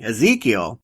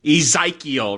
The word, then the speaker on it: Ezekiel: Ezekiel. There's an I, it's just not pronounced, it's not a hard I. Yeah, not a hard I sound. It's an E sound. Yeah, that threw me. Ezekiel.